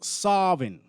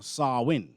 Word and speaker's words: Samhain: And they say that this word, it's a Gaelic word pronounced Sarvin or Sarwin.